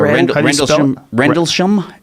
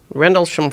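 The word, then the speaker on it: Rendlesham: Uh Rendlessham R N D L E S H A M Rendlessham Forest.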